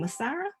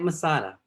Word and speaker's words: Masada: guest is and help me with pronouncing your last name masara yep masada masada okay he is a board-certified